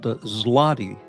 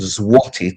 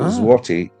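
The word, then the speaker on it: złoty: So, Polish money is called zlotti. Yes, zlotti, which literally means in Polish, it's actually called zati. The L is pronounced as a W in Polish.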